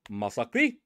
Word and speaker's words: Masaki: the first rank up is going to be masaki and I say his name that way is because his name is not massacre massacre is spelled with two s's his name is spelled with one s and he is the